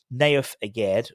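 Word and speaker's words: Nayef Aguerd: of the defensive restructuring, Naif Aged, I'm saying it like that because someone criticized when I said never good. Naif Aged, which is how his name is pronounced, could be given a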